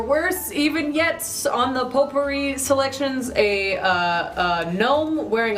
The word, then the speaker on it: potpourri: go with uh potpourri going potpourri pot purry as some pronounce it two horse gelatin fighting